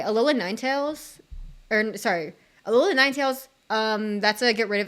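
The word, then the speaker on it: Ninetales: start over okay alola Ninetails or sorry alola Ninetails um that's a get rid of it start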